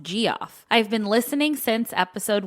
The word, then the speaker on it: Geoff: Also, when I turned 16 many moons ago, my dad got me a life-size skeleton from Costco, and I named it G off, pronounced G off.